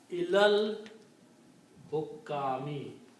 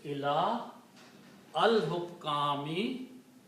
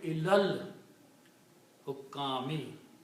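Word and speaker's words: إِلَى الْحُكَّامِ: So it becomes ilal hukami. When you read together, it is ila al-hukami. Don't pronounce this alif in between, so it will be ilal hukami.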